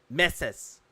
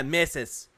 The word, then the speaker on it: meses: Yeah, misses. Yeah, Emmy. That's how it's pronounced. I had to look it up right here. Meses. Los meses.